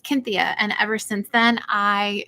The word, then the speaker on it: Cynthia: stargate sg1 and um they pronounce it the greek way cynthia uh because there wasn't really a seem didn't make an s sound so it's cynthia and ever since then